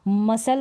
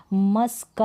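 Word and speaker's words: muscle: एस ए रहा है तो यहां पर सी जो है साइलेंट है मुश्किल का भी पढ़ने हैं नहीं पढ़ने हैं तो गलत है क्योंकि यहां पर क्या है साइलेंट है इसको मसाला पढ़ेंगे मस्लक नहीं पढ़ेंगे इस तरीके से यह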